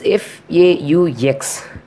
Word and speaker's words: faux: Only one word I can find, that is FAUX. By spelling FAUX, but we have to pronounce as fa. It is a French word, I think.